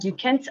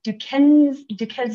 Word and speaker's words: Duquesne: Outside the Forest Service, Lo taught composition and communications classes at Chatham and Duquesne, I'm pronouncing that wrong, Duquesne Universities in Pittsburgh, Pennsylvania, and she holds a Master of Arts degree in writing.